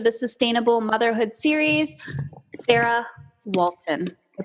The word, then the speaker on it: Walton: Sarah Walton. I pronounced it correctly? You did. You did. It's like the family on TV, right? Oh my gosh. If you're old enough. I kind of know the Walton.